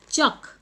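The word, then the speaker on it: chalk: एठी देखो पिले चक, कोटा साइलेंट रहूची देखिलो, को लेटरटा साइलेंट रहूची यस एल, एल को आमे प्रोनाउंस करू नाहू हैला।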